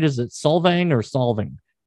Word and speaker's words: Solvang: Is it Solvang or Solving? How do you pronounce that place? Solvang.